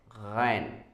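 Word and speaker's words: غ: And when there is dot, you'll have to say ghain, ghain. Pronunciation will be changed. Okay, the sound will be changed. The pronunciation source will be your throat.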